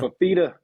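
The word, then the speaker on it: Fifita: Got to talk about how do you say his last name? Nafita? Fafita. Fafita. Noah.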